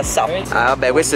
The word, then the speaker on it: SUP: Attenzione alla pronuncia perché si si pronuncia SAP.